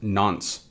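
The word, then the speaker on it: nonce: Now moving on from that we have this non- n pronounced nons.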